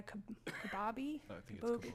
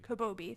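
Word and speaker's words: Kobabe: see I'm going to not be able to pronounce the name right Maya kababi kabobi thank you which is part of the ghs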